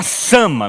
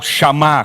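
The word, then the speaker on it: Shammah: Jeová, eu falei Jeová Nissi, Jeová Sama, melhor, antes ainda. Jeová Sama, ou Chamá, como se pronuncia a palavra.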